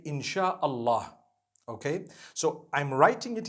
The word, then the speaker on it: inshallah: a they pronounce it they pronounce the s y the way we pronounce sh so they can write it how they want for as long as when people read it they read it inshallah because a transliteration means